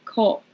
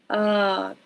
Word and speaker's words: cup: way of saying it, like cop or cop. We want to keep that tongue asleep. Cup.